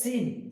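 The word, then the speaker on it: سين: ঠিক তেমনি সিন উচ্চারণ করার সময় আমরা খেয়াল রাখবো, সিন যখন বলবো তখন খেয়াল রাখতে হবে যে এটা তো একটা সিটি হবে, সিন, সিন। তারপর হচ্ছে শিন, সিন হচ্ছে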